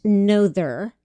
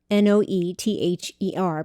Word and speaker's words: Noether: Her name looks like it should be pronounced Noether, n o e t h e r, but it's actually pronounced Noether.